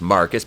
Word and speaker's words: Marquise: about her not arresting marquise pronounced marcus because he's [ __